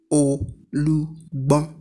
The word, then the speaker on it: Olugbon: He was the first traditional ruler of Ile Igbon with the title Olugbon, correctly pronounced Olugbon, Olugbon.